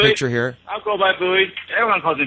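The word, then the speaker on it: Booey: I'll go by Bowie. Everyone calls me Bowie anyway, so Bowie. Spell it, B-O-O-H-E-Y?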